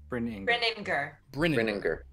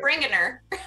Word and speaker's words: Brininger: Brininger. It's Viking. Brininger. Brininger. Okay, not Bringiner. Or Brining R.